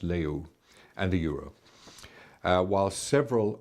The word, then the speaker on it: leu: using the Romanian Leo leu is pronounced Leo and the Europe while